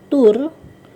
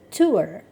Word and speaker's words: tour: Kata nomor 34 ini, 34, itu bukan dibaca tour atau tour, bacaannya adalah tour.